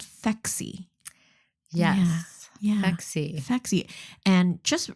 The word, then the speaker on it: Phexxi: my educational guess that it kind of sounds like sexy and maybe draws people yeah yeah and it's spelled p h xxi fexy which is really interesting so